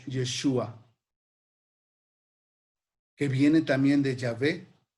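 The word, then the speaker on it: ישוע: Vean así como se escribe en hebreo y se pronuncia Yeshua, que viene también de Yahvé, que significa Salvador.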